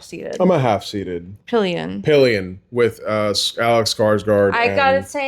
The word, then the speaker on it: Pillion: We keep getting confused as to how to say it, but it's Pillion.